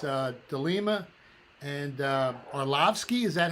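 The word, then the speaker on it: Arlovski: parlay he likes uh de lima and uh arlovsky is that how you say his name dave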